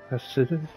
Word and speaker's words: ascetic: It's like aesthetics, but the TH is removed.